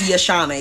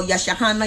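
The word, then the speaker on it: Yahshaanah: My first name is Yashana. It's spelled Y-A-H-S-H-A-A-N-A-H. And when people see that, they go, Yashahana, Yashareva, Shahana. Would they call me everything but my name.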